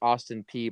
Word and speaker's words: Austin Peay: But yeah, so it's pronounced Austin P, by the way. Oh um, man, I just butchered it.